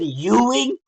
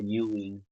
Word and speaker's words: Ewing: It's pronounced as U. Like Europe. Jesus Christ, bro. 10 fight winning streak. That right hand, bro, was just money for Yuing since the pronunciation of his name is Yuing.